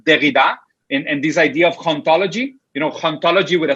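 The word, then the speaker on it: hauntology: But this idea of ontology is ontology with an H at the beginning, but then the H is silent, which for us in Spanish and Portuguese is very common.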